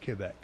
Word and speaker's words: Quebec: Quebec would have been, by the way, it's pronounced Quebec.